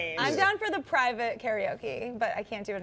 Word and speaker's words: karaoke: know what they're saying is the world's most mispronounced word karaoke way to say it is Cara okay means empty orchestra in Japanese okay I'm definitely